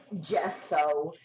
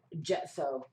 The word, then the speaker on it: gesso: Miss Nicole said it's pronounced gesso. She put JEH space SOW. Gesso.